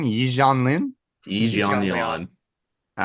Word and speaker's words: Yi Jianlin: Okay, how do you pronounce the name? Yi Jianlin? Yi Jianlin.